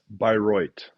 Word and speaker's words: Bayreuth: How do you pronounce the city again? Bayreuth.